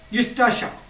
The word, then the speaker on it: Eustacia: यूस्टाशा. यूस्टाशा ई silent है. यूस्टाशा. Eustacia Y.